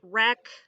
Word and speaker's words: wreck: Same thing with it if it sounds like it starts with an R. We have wreck, wrap, wrong. All of those have a silent W at the beginning.